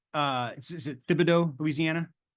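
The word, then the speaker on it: Thibodaux: pronounce uh is it Tibido Louisiana it's Tibido Tibido got it okay yeah the H is silent yep Tibido yep okay I knew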